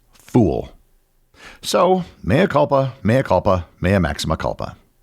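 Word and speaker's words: foul: the menu spelled fo u l and I pronounced it fowl because it was spelled the same as fowl ball. However, it turned out to be pronounced fool.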